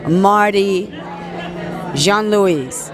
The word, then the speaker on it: Jean-Louis: International Christian Film Festival, Marty Jean-Louis. Did I say it right? Yes, ma'am.